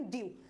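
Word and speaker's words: dew: डैब नहीं पढ़ेंगे, इसको हम पढ़ेंगे ड्यू।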